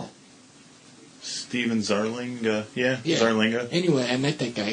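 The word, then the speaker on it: Zarlenga: Would you pronounce it like that? Stephen Zarlinga. Yeah, Zarlinga.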